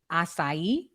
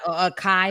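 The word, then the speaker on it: açaí: say it right now acai is that how you say it yeah because a lot of people say a Kai ball I'm not saying that wrong at first I was saying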